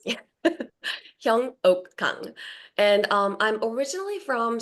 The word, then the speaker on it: Hyeungok: It's very difficult to pronounce. Yeah. Hyong Oak and um I'm originally from South Korea and